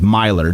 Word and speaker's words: Miler: pronoun it's Johnny and his last name is m i l e r and I believe it's pronounced Myer Johnny Miler um and